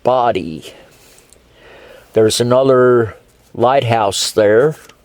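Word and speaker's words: Bodie: continue continuing north there's bodhi island b-o-d-i-e which is pronounced body there's another lighthouse there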